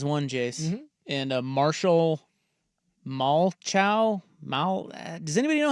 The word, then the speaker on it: Malchow: They're saying it's pronounced like the replacements quarterback Shane Falco, so Malcho. Or Malco?